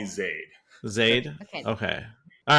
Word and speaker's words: Zaid: what you said yeah my name has like three or four different pronunciations which is really annoying yeah what what's your preferred way to pronounce it how do you introduce yourself most people call me Zade Zade okay all right